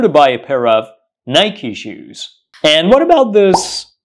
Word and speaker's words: Nike: made by this company do not say I'm here to buy a pair of Nike shoes it should say I'm here to buy a pair of Nike shoes and what about